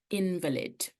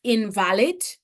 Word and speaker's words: invalid: Because you could pronounce this word as invalid, but I'm pronouncing it differently.